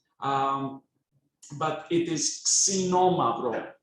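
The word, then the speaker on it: Ξινόμαυρο: of an attempt um for the crowds to pronounce that it's not a lot of non-greek people call that Xeno mavro um but it is Sonoma bro k s imagine k s c Norma bro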